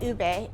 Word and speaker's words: ube: on the menu board, people would come up, you know, and say, I'll have the UBE, because that is how it's spelled. Or I'll have the ube. So we had to educate them. It's called ube, and this is what it is.